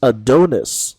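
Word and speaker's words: ADONXS: point and it is a Donis uh yes that X is pronounced like an i because um artist name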